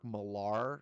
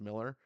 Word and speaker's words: Millar: I often say Mark Millar because it looks like malar and I said it that way so long and then I found out it's just pronounced Miller see so it is